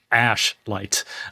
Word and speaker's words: Ashlight: pronounce this correctly because it's very easy to mispronounce this, but it's called Ashite. Ash light and it is a granular synth engine essentially